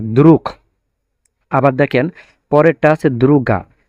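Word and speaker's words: друг: লাস্টে আছে গে বাট এটার উচ্চারণ হবে এখন ক এর মত দ্রুখ আবার দেখেন পরেরটা আছে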